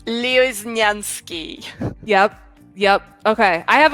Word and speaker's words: Lioznyansky: me just nope nope i'm gonna help you out leo is nyansky yep yep okay i